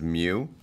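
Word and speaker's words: mu: this little U is me U is we pronounce it as Mew so it's micrometers um and uh Mew is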